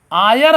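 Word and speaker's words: heir: यहाँ पर आयर है लिखा हायर है लेकिन यच साइलेंट हो जाता है तो क्या आता आयर, तो यहाँ पर जब बड़ा आ का ध्वनि करते हैं तो एन कर देंगे एक अंग्रेजी।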